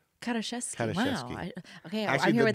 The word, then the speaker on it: Karaszewski: So I feel what, like, how is your name supposed to be pronounced? Karaszewski. Karaszewski.